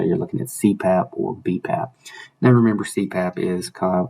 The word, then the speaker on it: BPAP: exhalation phases of breathing bipap or bpap technically is how you say it bpap is a